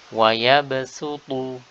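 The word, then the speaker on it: يبسط: Jadi meskipun tulisannya shad, maka kita wajib baca dengan sin. Wa yabsutu, wa yabsutu.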